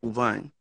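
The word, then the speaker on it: Auvergne: How do you spell that? Uvine.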